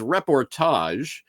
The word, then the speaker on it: reportage: It is reportage, rhymes with mirage, I guess.